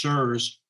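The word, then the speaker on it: CIRS: chronic inflammatory response syndrome it has an acronym pronounced sirs spelled in capital c-i-r-s this was discovered about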